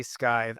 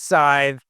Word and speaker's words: Scythe: And yes, I say Sky. I know it's Scythe. Blast me in the comments. That's I just like pronouncing it that way.